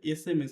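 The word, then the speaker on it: SMS: আসে কারণ এখানে দেখো এসটা কিসের মত উচ্চারণ হচ্ছে এসএমএস আমি যদি বলি এস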